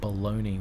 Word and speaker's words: bologna: also baloney the uh all the Americans listening baloney which is spelled bologna I don't know what